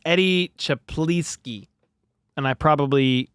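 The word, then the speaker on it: Czaplicki: It's Eddie Chaplinski. And I probably butchered the name. Chaplitzki. Look at the spelling. It's crazy, but I think it's Chaplitzki or close to it.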